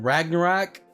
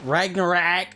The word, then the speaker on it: Ragnarok: It's basically the move Thor did in Ragnarok when he gets awakened. So Ragnarok.